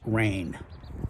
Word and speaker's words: Ren: here with the Nom I believe it's pronounced rain 15t 10 weight two-hander